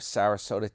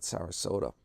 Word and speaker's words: Sarasota: So, uh, yeah, that's what's that's basically what's going on with Sarasota. Rhymes with Yoda.